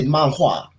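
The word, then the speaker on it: 漫画: So Japanese people say manga, and Chinese people say manhua.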